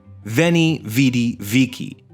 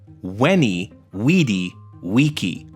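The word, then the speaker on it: Veni, vidi, vici: we should actually say wenny weedy Wiki the letter V in classical Latin was pronounced like a w we can see the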